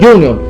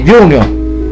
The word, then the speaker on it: Junior: este fútbol aquí dice Junior Junior aquí esto es una palabra inglés significa que se pronuncia Junior nadie dice junio esto es una palabra